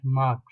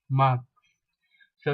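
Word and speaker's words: mars: pronounce the last letter however there are some words which are exceptions which is in the case of March and you call it as Marx mark so you have the S sound in the end you pronounce it you make it come to notice it is not mark it is marks okay first one do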